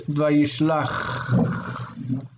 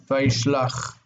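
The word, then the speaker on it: וישלח: So it's Vayishlach with that ch sound at the end. Vayishlach.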